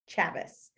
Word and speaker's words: Chavis: by alison chavis it's it's like travis it's looks like chavez but it's it's rhymes with travis chavis um and steph said